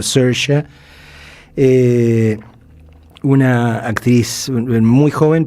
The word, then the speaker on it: Saoirse: se llama SH Ronan, que se escribe se escribe, se escribe saoirse, pero se dice, dicen este los irlandeses como Sha, eh, una actriz muy